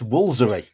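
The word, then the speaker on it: Woolfardisworthy: It's Woolsery. Yeah, of course What? it is. Woolsery. How? You just skip all these letters?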